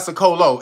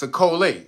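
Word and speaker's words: Ciccole: So it's not Sicolo, it's Sicole. C-I-C-C-O-L-E. Not O. I said it was an O at the end of the L. It's an E. All right. So Nicole Sicole.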